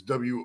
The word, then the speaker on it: Worcester: hour south of me called Worcester, but it's WOOSTER. Yeah, exactly. Like a rooster. If you have speech impediment, you're saying the word rooster. Oh, it's a Worcester.